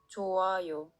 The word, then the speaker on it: 좋아요: When the letter 흐. is followed by the circle, the letter 흐. becomes silent. And if there are double final consonants, the final consonant before the 흐. will move to the next block. 좋아요.